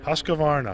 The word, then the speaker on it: Husqvarna: to be along with the, I can't even pronounce the name of this company. Husqvarna. Husqvarna? Husqvarna.